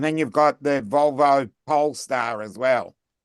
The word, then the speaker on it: Polestar: Pole star rather than pole estar. You put you make it into three.